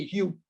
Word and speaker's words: HU: Mais mon ami me disait, les gens, ils pensent que c'est U. Ça se prononce U. Tu sais, quand on prend un cheval pour dire U, U, pour qu'il avance, hein? Mais en fait c'est le U, en anglais, c'est You.